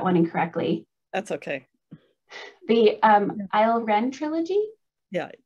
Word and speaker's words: Ile-Rien: the, oh Martha, I'm afraid I'm going to pronounce that one incorrectly. That's okay. The Ilrien trilogy? Yeah, Ilrien. Ilrien, thank you.